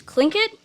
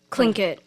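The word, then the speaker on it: Tlingit: into the spelling B was clink it like it's spelled t l i n g i t like it didn't sound like how it was spelled it was so weird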